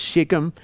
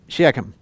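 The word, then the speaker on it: Shechem: some people pronounce this shikim uh the Hebrew way is like clear in your throat but it's closer to sheum than it is shikim so I pronounce it sheum you can pronounce any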